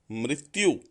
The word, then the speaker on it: मृत्यु: और अंत में जो शब्द दिया है गलत वो है मृत्यु, वो गलत है और इसका प्रोनाउंसिएशन यानी उच्चारण क्या होगा, मृत्यु।